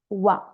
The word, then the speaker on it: wan: Of course, when I teach, I say one, but natives say wa. Okay, wa without N. You have to write one. But when you pronounce, it's better to say wa.